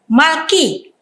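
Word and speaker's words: מלכי: Ya, saya sudah mulai dapat membayangkannya bahwa ini bacanya adalah Malki, yang dimana yod ini adalah matres leksionis untuk penanda bunyi i, Malki, ya, Shamru, Malki.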